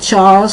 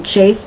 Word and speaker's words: Chas: A Chaz or Chase in Dave, or it's spelled C-H-A-S. Now they could pronounce it Charles or Chase in Dave, and that's Cockney rhyming slang.